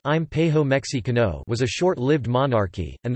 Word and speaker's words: Imperio Mexicano: The Mexican Empire, Spanish, Imperio Mexicano, pronounced Impejo Mexicano, was a short-lived monarchy, and the first independent post-colonial imperial state in Mexico.